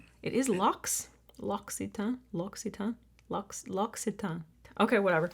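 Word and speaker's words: L'Occitane: Loxitan is how it is said in French or in English. Loxitan. It is lockitan.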